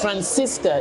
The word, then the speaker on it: Francisca: name spell your name his name is Francisca it's like San Francisco instead of the oh it's an A but I'll spell it